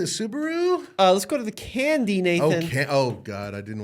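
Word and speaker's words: Kandi: That vehicle is the Candy K27. Yep. Candy spelled with a K, K-A-N-D-I.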